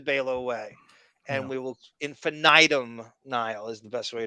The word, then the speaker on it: Infinitum: bring this up uh you know how you can't pronounce his company infinite yes it's infinitum i've tried that and i've heard him say it and he didn't hit the eye like that i've heard 500 different pronunciation i like your pronunciation the best infinitum is really that's the way that that's got to be what it is i i'm yeah i'm